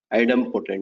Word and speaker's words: idempotent: to insert a resource so post is not idem potent okay it's a little difficult to pronounce it but it's item potent now what it is so item not idempotent